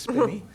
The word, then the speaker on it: Spinny: It's not Spiny, it's Spinny.